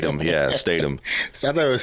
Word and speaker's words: Statum: Yeah, Statum. So I thought it was. I know, man. It's Statum though.